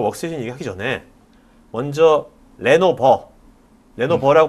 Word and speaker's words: 레노버: 오늘 이제 우리가 워크스테이션 얘기하기 전에 먼저 레노버 레노 버라 발음해야 되죠 레 네 레노버 그 레노버가 이게 일단은